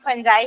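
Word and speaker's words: fungi: देखो मोनेरा को sorry फंजाई को कई लोग फंगी पढ़ते हैं क्योंकि उसका spelling F यू एन जी आई है तो फंगी भी बोलते हैं बट फंजाई बोलती हूं मैं फंजाई ही मेरे ख्याल से रियल उसका प्रोनाउंस है।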